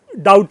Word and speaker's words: doubt: लेकिन इंग्लिश में DOUBT में जो है बी साइलेंट हो जाता है, और डाउट हो जाता है।